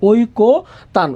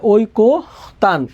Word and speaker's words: ঐকতান: কয়কার ঐকতান, এখানে কতান না, এখানে হবে ওই কো, যে অন্ত এর নিয়ম অনুযায়ী এখানে হবে কো। এখানে আছে তয়কার্তা, দিলাম আমরা তয়কার্তা। এখানে আছে নটা শেষ বর্ণ, এখানে একটা হসন্ত, ঐকো তান। উচ্চারণটা হবে ঐকো তান, ঐকো তান, ঐকো তান, ঐকো তান।